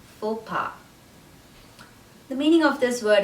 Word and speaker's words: faux pas: and the second word the s at the end of that word is not pronounced it's silent so we say fo ba fopa the meaning of this